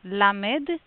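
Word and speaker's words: למד: Let's start with the first one, lamed. Lamed. Pronunciation very simple. Le. Very close to light. It's not so deep as in English.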